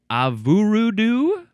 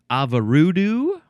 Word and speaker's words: Avurudu: Okay, next we have avurudu or avarudu. Avurudu, avurudu, avurudu-doo-ba-doo-doo-boo. This is spelled A-V-U-R-U-D-U.